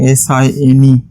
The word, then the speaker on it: sine: letters have been taken this is not pronounced as seen theta all right because cn